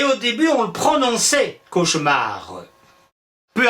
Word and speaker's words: cauchemar: On prononçait bien le E de cauchemar. Mais, visiblement, lui, il trouve qu'il ne faut plus le prononcer.